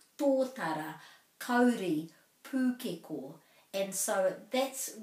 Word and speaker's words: tōtara: Of course, not much point talking about totra and kauri and pūkeko if we're trying to practice that, because that's not the correct pronunciation. Tōtara, kauri, pūkeko.